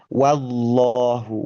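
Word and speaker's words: وَاللّٰهُ: Ee lagi bahwa ee meskipun lafaz jelalahnya itu memang tebal tetapi huruf wau wu fathahnya sendiri ketika ketatal diucapkan itu tidak ikut-ikutan tebal. Justru wa masih wa wallahu wallahu dan ya ee kecenderungan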